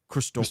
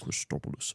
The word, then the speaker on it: Christos: in the Greek accent well if you want to say it in the Greek accent Christos Christ Christos I like that just